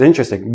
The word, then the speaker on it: interesting: But in everyday speech, interesting. Interesting. Interesting. I have 4 syllables. When I actually say it naturally, it becomes 3 syllables, and the T and the R become like a CH, but we'll talk about that next.